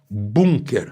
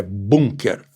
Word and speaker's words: Bunker: Bunker, a palavra é alemã, é bunker, não é bunker, não, como os americanos pronunciam, os ingleses também.